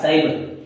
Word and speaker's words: साइबर: तो देखिए यहाँ पर सी के बाद में वाई आ रहा है, तो इसका क्या बन रहा है? साइबर बन रहा है। क्या बन रहा है? साइबर। इसका मतलब सी के बाद वाई आ रहा है तो भी उच्चारण है वो स बन रहा है।